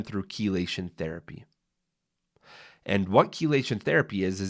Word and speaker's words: chelation: But there's even detox protocols, and I'm going to get passionate here, called chelation therapy. Has anyone ever heard of chelation therapy? Spelled with C-H-E, chelation therapy.